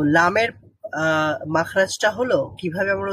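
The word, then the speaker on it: لام: কিনারাটা রয়েছে তো আমরা জিহ্বার অগ্রভাগের কিনারা সামনের উপরের একপাশের দাঁতের গোড়ার সঙ্গে লাগিয়ে লাম উচ্চারণ করব লাম লাম বলেন লাম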